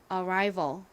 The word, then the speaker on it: arrival: V 부분은 V 그리고 all 소리 나는 Al입니다 발음 따라해 보세요 Arrival 한 번 더 해 볼게요 Arrival 좋습니다가 어